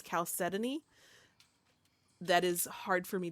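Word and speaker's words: chalcedony: Decal is the South Dakota Calcidon or Caletan. I was corrected. Actually, both pronunciations are actually correct, but I think the more popular one is calcetany.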